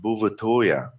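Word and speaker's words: Bouvetøya: Norwegian territory and in Norwegian the island is pronounced buvatoria it was discovered by a French explorer sometime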